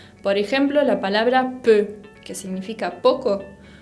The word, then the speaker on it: peu: Bien, esa combinación de E con U se pronuncia exactamente de la misma manera, como esa E cerrada, E. Por ejemplo, la palabra peu, que significa poco, peu.